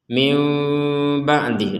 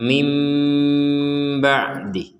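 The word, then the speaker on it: مِنْ بَعْدِهِ: Jadi cara bacanya itu adalah mim ba'dih. Mim ba'dih. Mim ba mim ba seperti jadi tidak dibaca jelas. Kalau dibaca jelas kan min ba'dih.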